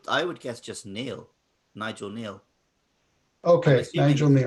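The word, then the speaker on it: Nigel Kneale: would guess just neil nigel neil okay angel i'm assuming it's a silent k okay so nigel neil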